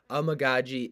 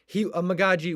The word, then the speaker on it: Amegadjie: Amegadjie is maybe fighting for much more than a starting job.